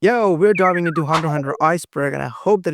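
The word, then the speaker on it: Hunter × Hunter: All right, starting with level one, the X in Hunter Hunter. Yeah, first things first, you do not pronounce X in Hunter Hunter. Okay, it's Hunter. Hunter. If you pronounce Hunter X hunter, you are legally wrong.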